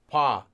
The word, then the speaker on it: 봐: here so followed by pa which is just actually pronounced like paw although this is technically